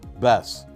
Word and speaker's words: BESS: pay close attention to these four letters b e s s pronounced best because that's the name